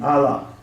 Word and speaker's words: Allah: you have called Allah they don't even say it properly Allah it's Allah they say Allah this God that you